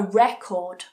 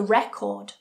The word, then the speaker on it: record: how the stress changes so in some sentences I bought a record I bought a record I'll record it later I'll record it later